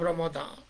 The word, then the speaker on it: Ramadan: to clinton here hello you have to say the month of ramadan you just can't say sramada but normally knowledge just